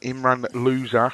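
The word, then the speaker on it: Imran Louza: the first of june it was announced that imran loser unfortunately that is how he pronounced his name so now we've got loser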